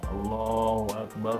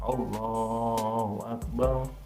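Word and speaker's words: الله أكبر: allahu akbar allahu akbar ini harokatro harus dibaca tidak boleh allahu akbar allahu akbar allahu akbar itu harus dibaca dengan jelas ini Andaikan klakson sayuran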